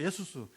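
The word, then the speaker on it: Ἰησοῦς: 예수님은 자기 백성 이스라엘을 죄로부터 건질 자가, 그래서 구원이란 말이 예수스가 예수스, 헬라어로 예수스. 그건 이제 영어는 이제 이게 발음이 힘든지 자기들끼리 그냥 지저스를 바꾼 거예요.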